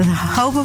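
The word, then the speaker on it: jojoba: of the desert hoba is spelled j o j o ba but is pronounced according to its Spanish Origins the hoba plant grows in the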